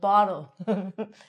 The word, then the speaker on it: bottle: can't even say it, bottle. It's not a bottle, Ronnie. So, if it's between an O and an L, it's going to be said like a D.